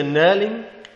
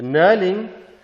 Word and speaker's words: knurling: let's go to the knurling the knurling with the silent k is this component here